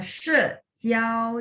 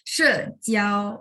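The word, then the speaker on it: 死角: 死角，死角，死角， se-nya nada 4, 4. Oke, nada 4 bagaimana bacanya? 4, Se, oke. Jiao nada. 1, Jadi kalau digabung 4 角， jiao 1 ya. 角， Se, jiao. Jadi tetap ikutin 角， nadanya ya. Oke, nggak apa-apa. Se, jiao. Oke, 再来是 ya, sejiao.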